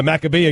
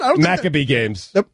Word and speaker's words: Maccabi: doesn't want to broadcast the macabeo game is that how you pronounce it Maccabi Games did you just pronounce that wrong Maccabi Games did you just pronounce that wrong in your religion Maccabi oh is